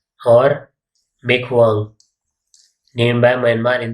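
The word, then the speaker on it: Michaung: And Durgavati MP, cyclone मिगजोंग और मेकहुआंग named by Myanmar in दी बे of Bengal. Bay of Bengal में आया था, नाम किसने रखा? म्यांमार ने। Pronunciation is मिगजोंग।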